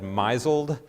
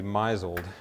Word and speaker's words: misled: for all those who've ever pronounced the word misled maiseled have you ever done that one who was ready to be misled misled and so he